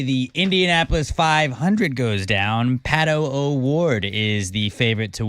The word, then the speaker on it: Pato: Pato.